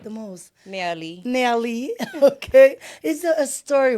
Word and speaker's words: Nerlie: How do you pronounce it again? Nerlie. Nerlie. For the French-speaking people. Uh-huh. And the English-speaking people can say Nerlie. Nerlie.